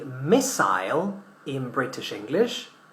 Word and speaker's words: missile: We say missile in British English. We say missile in American English.